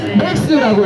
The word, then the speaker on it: MAXXAM: MAXXAM이라고 쓰고요. 읽을 때는 맥스라고 읽으면 됩니다.